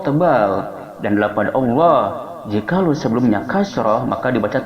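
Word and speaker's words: الله: Baina akhawaikum wattaqullah, lafaz Allah dibaca tebal, hukumnya adalah tafhim, dikarenakan lafaz Allah sebelumnya ada dhammah.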